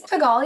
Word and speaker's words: Pagal: I hope I pronounced your name right, Pagal. It's Pagal, yeah, close Pagal, enough.